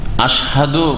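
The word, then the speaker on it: أَشْهَدُ: حمزہ আসলে সূক্ষ اشھد প্রথম যে হামজাটা আছে আশহাদু বলতে হবে আশহাদু আল্লা ইলাহা ইল্লাল্লাহ সেখানে আশ হদ যদি কেউ করে টান দিয়ে তো এটা ভুল কারণ লম্বা করার জন্য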